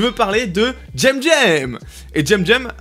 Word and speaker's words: CEMCEM: Et JemJem, alors oui ça s'écrit Semsem mais il a dit que ça se disait JemJem.